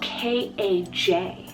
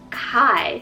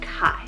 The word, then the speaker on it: Kaj: would be spoken, but it is pronounced the Danish way, like Kai.